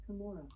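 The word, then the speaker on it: Cumorah: named the hill of Kamora. Alexa, how do you pronounce Cu M O R A H. Okay, here's pronunciations. I would pronounce it as Kamora.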